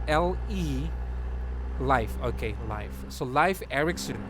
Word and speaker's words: Leif: Leaf as in like leaf of Leaf? Or life? How do you pronounce that one? It's kind of hard. It's the spelling of the name is L-E Life.